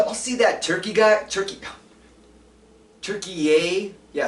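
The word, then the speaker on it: Türkiye: Turkey yay? Yeah, it's not called turkey anymore. It's called turkey yay, and it's spelled differently now for some reason.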